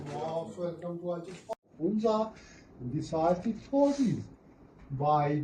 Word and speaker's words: Hunza: Hunza, the actual accent, actual pronunciation, original name, de facto name is Hunzo. H-U-N, the term Hunzo. When British occupied this region in 1891, they changed Hunzo into Hunza in their official document, in their